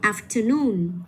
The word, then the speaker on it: afternoon: Rồi tiếp theo, những cái âm tiết mà nó có chữ o và n thì mình cũng sẽ nhấn trực tiếp vào cái âm tiết có những chữ này luôn. Mình sẽ đọc là balloon. Hay là afternoon.